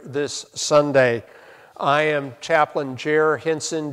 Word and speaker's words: Jer: I am Chaplain Jer Henson. Jer rhymes with air.